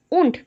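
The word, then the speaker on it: Wundt: of psychology William उठ William उंट D pronounce नहीं होगा विलियम उंट ठीक है व्हिच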